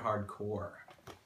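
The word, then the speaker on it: Hard Corps: I found this so Contra hardcore which that's how you say it right it's not corpse nobody says corpse but anyway on to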